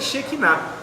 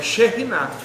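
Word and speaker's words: Shekhinah: Então diz lá que Shekinah, a pronúncia não é nem Shekinah, é Sherinah.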